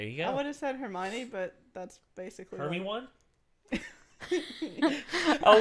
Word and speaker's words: Hermione: go what is that Hermione but that's basically everyone I'll never get over sovietwomble making that mistake because he kept he called Hermione hermie one for like a solid year he's like because he